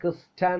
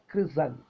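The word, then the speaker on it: christen: ബാലേ ബാലേ കണ്ടോ ലേ ക്രിസ്റ്റൻ നമ്മൾ സാധാരണ ഉച്ചരിക്കുന്നത് ക്രിസ്ത്യൻ എന്നാണ് പക്ഷേ ക്രിസൺ ക്രിസൺ ഈ പിന്നെ മാമോദീസ മുക്കുന്നതുമായി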